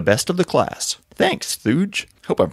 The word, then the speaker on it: Thuge: Thanks, Thuge. Hope I'm pronouncing that right. Rhymes with Scrooge, so it's Christmassy.